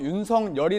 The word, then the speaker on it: 윤석열: 합니까 그런 성격이 말씀이다 원칙적으로는 석 여리다 한데 왜 윤석렬 로 불러 주길 바랄 까요 4 이름이라는 특수성 때문에 인정을 해주는 건데요 스스로 윤 성열이 라고 불러달라고 했습니다 저희가 이제 윤석열 제가